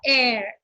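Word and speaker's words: heir: is a pronoun now air air here we are not pronouncing the first letter that is H because H is silent here so the next letter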